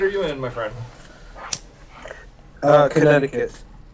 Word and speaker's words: Connecticut: Connecticut. How about you? This is California right here. Please pronounce the C. Connecticut.